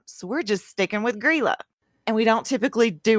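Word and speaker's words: Grýla: Icelandic Christmas which called guerrilla now it's spelled gr y la with that little accent thing above the Y so it's pronounced gorilla but I'm not capable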